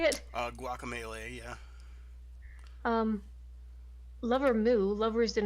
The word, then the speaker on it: Guacamelee: they got rest from Psychonauts uh Juan from guacamole I think is that how you say it guacamelee yeah lover moo lovers in a dangerous space-time